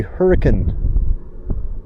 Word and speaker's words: Hurricane: I think that's probably Hurricane. And that's how they say it, by the way. It's spelled hurricane, but they say hurricane.